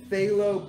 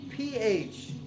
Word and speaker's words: phthalo: i'm gonna make orange it's all good and phthalo blue p-h-t-h-a-l-o they pronounce it phthalo blue i don't know who